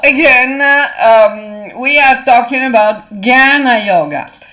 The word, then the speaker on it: Jnana: Okay, so again, we are talking about Jnana Yoga. Jnana is a difficult word to pronounce because it's not ja, it's not gya, it's not dia, but it's something in between.